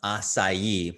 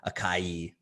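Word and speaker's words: açaí: superfood, super high in antioxidants, and it is pronounced acai, but we get a lot of people who call it acai.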